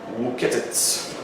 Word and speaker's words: Wuketitz: Wuketitz, that's how you say his name, said in